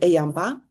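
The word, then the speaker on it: EAMBA: M so we pronounce it Ayamba which is maybe not a good pronunciation for the UK uh typically uh coming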